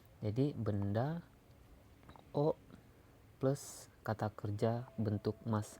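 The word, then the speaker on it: を: Nah, di sini emang hiragananya adalah ee tertulis Wo. Tapi kalau sebagai partikel kita bacanya O. Jadi benda O plus kata kerja bentuk mas atau bentuk biasa.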